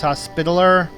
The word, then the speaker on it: Hospitaller: John's also known as the Knights Hospitaller which is how it's pronounced by the way and should be seeing